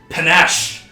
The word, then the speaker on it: panache: It's like pan and ache. Oh, okay. Yes. Pancake, but pan ache.